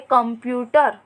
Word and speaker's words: कंप्यूटर: लेकिन हम बोलते हैं कंप्यूटर। तो क के बाद जो आधे म का उच्चारण कर रहे हैं वो करते वक्त नाक का प्रयोग कर रहे हैं, इसलिए हम क पर बिंदु लगाएंगे।